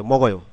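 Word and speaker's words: 먹어: যেমন এখানে খেয়াল করুন মক, অ, ইও একসাথে যদি উচ্চারণ করি, আসলে বলতে বলতে এটা আমি খুব দ্রুত বললে কিন্তু এরকমই হবে মগয়, দ্রুত বললে কিন্তু মগয়ই হবে, মগয়, মগয়, হ্যাঁ?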